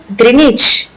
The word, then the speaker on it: Greenwich: clang it theory is pronounced longitude Greenwich is pronounced Greenwich I hope this video helped you thank you